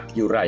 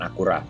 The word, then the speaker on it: Acura: Di Amerika Utara, mobil ini dipasarkan dengan brand Acura, bacanya Acura ya, bukan Acura. Karena orang Jepang sendiri melafalkan dengan Acura.